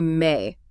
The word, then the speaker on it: me: You wouldn't say me. You would say may.